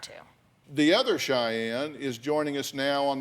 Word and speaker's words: Cheyenne: We're talking about patterns here, and we talked to a friend of yours, and how do you pronounce her name? Cheyenne.